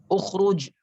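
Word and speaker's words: اُخْرُجْ: Kalau ikhri kan ukhruj itu ra-nya juga ra tebal.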